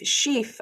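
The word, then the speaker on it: Szyf: epigeneticist, and I wasn't really sure how to pronounce his name. Is it Oh, Moshe Sheaf. Sheaf? Sheaf.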